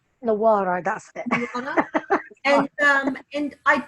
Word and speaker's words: Nawarra: It's Nawarra, that's it.